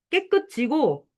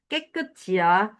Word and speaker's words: 깨끗지: 이래야지 치라고 하면 안 되고 깨끗지고 익숙지야. 여기 니네가 많이 틀리는 발음 있지. 결국은 그래서 모든 맞춤법에 결국 저기는 발음으로 귀결이 된다니까, 얘들아.